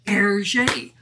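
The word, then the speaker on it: Hergé: remy and george remy if you reverse the initials rg in french that's pronounced yes you guessed it erget aha i wonder if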